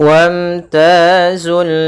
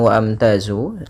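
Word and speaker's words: وامتازوا: wamtazul Yauma ayyuhal mujrimun pada bacaan wamtazul di sini hamzahnya tidak dibaca bukan waamtazu ini Hamzah atau alifnya tidak dibaca ini tanda artinya dia tidak dibaca langsung ke huruf mim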